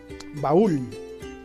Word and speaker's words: baúl: Porque la sílaba ul suena más fuerte, pues tiene la mayor fuerza de voz, ¿no?